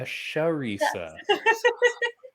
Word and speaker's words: Charisa: the bksc sweetheart cinco you said it wrong but it sounded really good oh man it's an sh a sharisa oh my goodness what are the odds of that sharisa it was like so